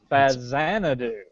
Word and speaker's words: Faxanadu: it's pronounced uh oh fazan do it is a z it is the x is pronounced like a z because it was a